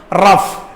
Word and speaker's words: rough: ഇതെങ്ങനെയാണ് വായിക്കുന്നത്? റഫ്. നോക്കുക, ഫ സൗണ്ടിന് അവിടെ ഇംഗ്ലീഷുകാർ കൊടുത്ത ഒരു 2 ആൽഫബറ്റ്സ് എന്ന് പറയുന്നത് GH ആയിരുന്നു.